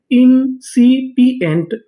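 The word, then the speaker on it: incipient: पी इंसिपी इ एन टी एंट पूरी meaning इंसिपियंट इंसिपिएंट इंसिपिएंट इंसिपिएंट का मतलब होता है बुद्धिहीन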